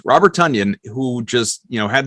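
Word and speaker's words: Tonyan: again it's interesting robert tanyan who as we know i i keep wanting to say tanyan tanyan rhymes with funyuns robert tunyan who just you know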